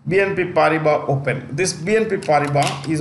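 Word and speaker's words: Paribas: BNP party bar at the S is silent BNP pariba open this BNP pariba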